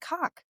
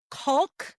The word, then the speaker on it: caulk: And I was like, and he's like, "Say that word again." I'm like, "Cock." And he's like, "Col." And I'm like, "What's cock?" Caulk. I don't say it like that.